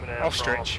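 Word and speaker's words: Österreich: I figured you were from Ostrich, which is how you say Austria in German.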